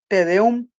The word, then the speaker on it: tedeum: Sí, Tedeum es una palabra en la cual se carga la voz en la U, en la última sílaba.